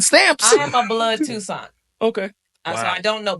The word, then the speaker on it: Toussaint: So Miss Liz Toussaint, Toussaint, is that how you pronounce it? It's Toussaint.